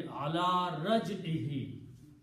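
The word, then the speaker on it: على رجعه: to a kasra, Raj-i, and for pronunciation we will pronounce this he also, so it will be ala Raj-ihi, upon his return.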